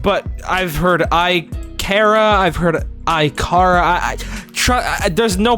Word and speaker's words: Ikara: don't even think there's a proper way to pronounce it. I say Ikara, but I've heard Ikara, I've heard Ikara.